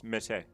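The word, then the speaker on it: Meursault: Uh it's Mersault. It's Italian. What? It's like Mersault. Yeah. So, it's Mersault. Yeah. It's Italian.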